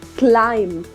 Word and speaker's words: climb: the correct pronunciation is climb climb you just have to ignore letter B now what about this